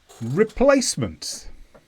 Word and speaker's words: replacement: that form to practice replacements this is a noun and the stress is on Place replacement and this means something